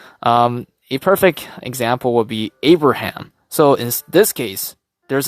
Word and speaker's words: Abraham: So think of it, if you break it down into 3 syllables, it'll be A, bruh, ham.